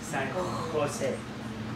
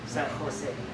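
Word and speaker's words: San José: Mình có chữ đó mà khờ mà phải San Jose. Đa số họ đọc là giống như chữ hát là San Jose.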